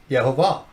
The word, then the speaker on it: Yehovah: name of the the how you pronounce the tetragramma ham the yode hey vave is yehovah we we believe there's